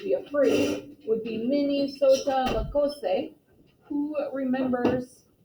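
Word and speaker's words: Mni Sota Makoce: The first, I guess it would be a phrase, would be Minnesota Makose. Who remembers, actually I think it's pronounced Minnesota Makose.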